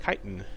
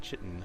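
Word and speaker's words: chitin: turns out that uh it's pronounced kiten and not chitten so I feel rather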